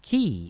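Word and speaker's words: quay: dick for a moment it's pronounced key even though it's spelled qu is it is it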